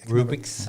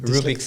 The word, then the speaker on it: Rubik: which could manipulate the cubic the cubic cube rubrics rubrics i can never pronounce it rubik's cube there you have it and uh and